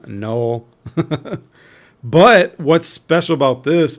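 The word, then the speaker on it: Knull: pronounce him - no I just think that the K is silent and I pronounce him no but what's special about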